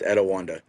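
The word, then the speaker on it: Etiwanda: It's Edawanda.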